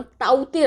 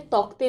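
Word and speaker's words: Tauktae: उष्णकटिबंधीय चक्रवात का नाम ताउते रखा है? तो याद रखना है पहली बात, इसका नाम ताउते है, तौकते नहीं है। ये जो के है वो साइलेंट है।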